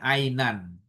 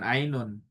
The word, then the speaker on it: ainan: Jadi bacanya harusnya ainan, bukan ainun.